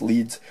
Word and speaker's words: leads: right here it's called it spelled like lead but it's leads um they are thin